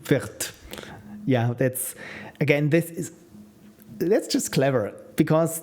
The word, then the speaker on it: Wirth: As in Americans pronounce his name Worth. Yeah, that's Worth and Wirth.